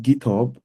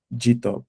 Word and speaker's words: GitHub: git not git and the second part is pronounced GitHub and not g top so if you currently pronounce the GTO now